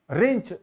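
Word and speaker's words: wrench: रिंच देखिए, रिंच को हम लोग जो है इंग्लिश में डब्ल्यू आगे लगाएंगे, डब्ल्यू साइलेंट है तो ये रिंच हो जाएगा, ब्रिंच, ठीक है।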